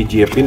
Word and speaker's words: Jiepin: ya yang masuk Indonesia mereknya jpin jpin kan bacanya Oke jpin kita lihat